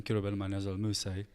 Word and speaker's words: Kirubel Manyazewal Mussie: Kirubel Manyazewal Mussie. That's my full name. Wait, how do I pronounce that? Kirubel Manyazewal Mussie.